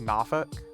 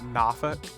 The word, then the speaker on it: Norfolk: And apparently I I said a big no no cuz I called it Norfolk and it's pronounced Nafuk or something like that.